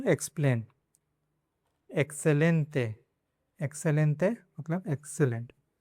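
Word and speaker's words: excelente: दूसरा rule, before consonant, consonant के पहले अगर 21 आता है, 21 के बाद में देखो तो ये कॉन्सोनेंट है प, तो इसको से पढ़ेंगे।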